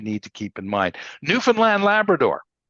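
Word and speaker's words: Newfoundland: part of the country it's called newfinland Labrador if you want to pronounce it correctly because part of the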